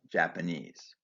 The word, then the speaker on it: Japanese: Japanese is stressed on the final syllable, Japanese.